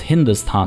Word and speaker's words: Hindustan: the indus valley river however the persian pronunciation of indus was hindus there's the h at the beginning so it was hindustan the place of the